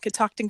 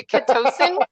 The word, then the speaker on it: Catoctin: Yeah, Catoctin, it's spelled how it's pronounced. But I mean, people. It's where you put the emphasis.